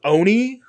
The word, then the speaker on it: Olney: but it's like spelled dumb o-l-n-e-y but it's pronounced oni like the animator uh so old oney um